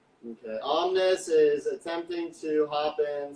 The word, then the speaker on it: Omnes: Omnis, yeah.